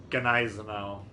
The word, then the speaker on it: Gneisenau: But I asked the German guys on our community contributor Discord, and they said it's pronounced Gneisenau.